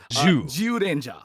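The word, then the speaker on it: Zyuranger: specific contents uh context the Z is pronounced with a J so zja zja specifically also because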